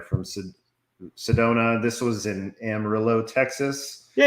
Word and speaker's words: Amarillo: in amarillo texas yeah you said it right ranch you corrected me even though you know i can't help but say it george george strait says it that way so therefore it's amarillo there we go and